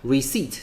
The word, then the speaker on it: receipt: A businessman is collecting receipt，这个字的发音要特别注意一下，receipt 的这个 p 是不发音的哈，所以呢你要这样发音，你听到的时候才会是正确的 receipt。OK，好，所以呢这边刚刚讲到 stadium 哈，这个是运动场、体育场。OK，所以这边如果这一题比较难的话呢，你可以再多听个几次。我是季安老师，我们下堂课见，拜拜。